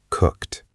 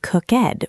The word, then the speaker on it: cooked: Notice that the ed sounds a little bit like a T sound at the end. Cooked. Yes, many beginners say cooked with two syllables, but we do not say cooked, we just say cooked.